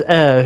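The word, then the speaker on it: Eir: Air Gooner with me. Huh? It is pronounced air.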